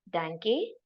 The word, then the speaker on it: Danke: Just remember it as a dank. Pronunciation is also like that. Tang. Dank.